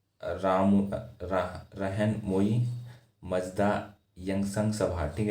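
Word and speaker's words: Rahnumai: Founded the राम रहन मोई मजदा यंगसंग सभा। ठीक है, तो ये एक सभा फाउंड की गई।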